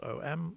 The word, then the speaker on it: Om: word ohm sometimes spelled om sometimes spelled AUM the reason being that the pronunciation is slightly rounder than just om it's not quite um